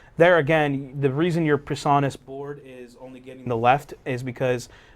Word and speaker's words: PreSonus: And now I know how to pronounce the name of that brand. PreSonus?